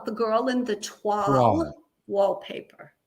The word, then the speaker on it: toile: So if I were to spell it, it'd be TWAL. Toile. If you were going to spell it, it would be TWALL phonetically, yes. And it is spelled TOILE. So people will say toil, but it's a French word, toile.